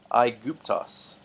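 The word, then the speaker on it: Αἴγυπτος: on the left is kind of an English pronunciation guide, and what's on the right is the translation. Aiguptos, Aiguptos is Egypt.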